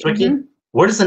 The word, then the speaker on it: Swickie: And by the way, is that how you pronounce it, Swickie? Yeah, Swickie. Swickie?